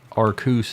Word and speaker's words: Arceus: the hill of Arceus although arcuse is obviously the the actual correct pronunciation daddy Brian approves of Rayquaza he does Arceus sounds dumb I would